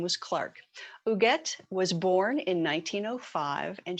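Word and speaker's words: Huguette: diamond diva this month her name is ooget clark it's spelled e t t h-u-g-u-e-t very french last name was clark uget was born in 1905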